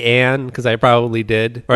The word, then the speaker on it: Ayn: You can't even pronounce their name. It's Ann. I like to call her Ann.